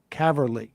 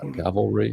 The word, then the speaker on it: cavalry: is there there's no cavarly in cavarly I can't Cavalry how do you say that yes that's that's that's